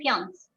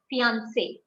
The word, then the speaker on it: fiancé: We don't say fiance, fiancé.